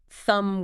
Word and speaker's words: thumb: Just find one word you encounter today or tomorrow that has a silent letter like uh thumb with its silent B and just try to think back.